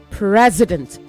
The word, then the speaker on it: president: A president, it is pronounced president. A president is a leader of a nation.